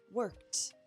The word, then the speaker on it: worked: The first verb with a voiceless ending is work. Put your hand on your throat again and see work. Work. It vibrates for were but it doesn't vibrate at C. So work becomes worked.